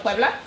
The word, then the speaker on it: Puebla: Of Puebla?